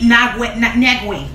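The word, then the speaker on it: Nwigwe: It's Toby Nagwe. Spell it for the people.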